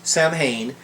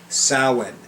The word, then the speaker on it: Samhain: so when on halloween so when not samhain samhain samhain samhain if you are a witch you know you need to pronounce correctly i'm just saying and